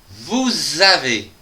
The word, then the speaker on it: vous avez: La deuxième phrase, vous avez soif avec la liaison SA qui va donc donner Z. Le son za. Vous avez vous avez soif.